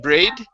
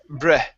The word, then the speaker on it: bread: good all right uh this word here is pronounced bread give me a good short e sound instead of braid it's bread bread okay one more time bread